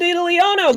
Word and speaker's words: Diddlyono: No, I just think No, you literally you just said lost no. one syllable. No. You lost one syllable.